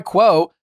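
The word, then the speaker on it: Quo: growing teams rely on Kwo to stay connected, professional, and consistently reachable.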